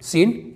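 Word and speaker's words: scene: सी ई एन ई यहां पर भी एस के बाद सी साइलेंट है इसे हम पढ़ेंगे सीन जिसका मतलब होता है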